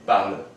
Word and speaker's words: parles: If you're speaking, one person who is informally being referred to, we say tu parles. Es at the end. But remember, this S isn't pronounced.